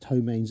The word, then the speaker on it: ptomaines: It's actually pronounced ptomaines.